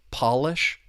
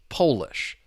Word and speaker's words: Polish: But once again, the stress is on that first syllable. Polish. Polish.